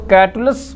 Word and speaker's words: Catullus: सो कैटुलस मत पढ़ना, मैंने जबकि इसका प्रोनाउंसिएशन बहुत चेक किया, मुझे ज़्यादा से ज़्यादा जगहों पे इसका प्रोनाउंसिएशन मिला कैटालस, ठीक है। अब ये इंग्लिश के तो पोएट्स थे नहीं, ग्रीक के पोएट्स थे, तो कॉमन सी बात उनका जो प्रोनाउंसिएशन होगा वो ग्रीक वर्जन में होगा, तो कैटालस पढ़ना है हमें इनको।